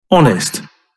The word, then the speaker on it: honest: Honest. Honest – честный. Обрати внимание, что в этом слове буква H не читается.